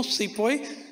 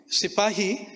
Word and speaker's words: sipahi: the 1857 sipoi Mutiny there is no sepoi sipahi the British whereas murderous with pronunciation as with people and